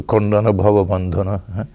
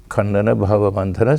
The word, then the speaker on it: Khandana Bhavabandhana: Some of our Swami say, now you pronounce it like Bengali because it's a Bengali hymn. Tomai, so the Bengali word. So Khandana Bhavabandhana. And others will say, no, it was intentionally composed this way so that it would be understandable by people of every speaking every language in India, pronounce it like Sanskrit.